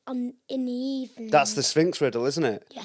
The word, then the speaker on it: Sphinx: Yeah, and it rhymes with stinks. Stinks. The Sphinx.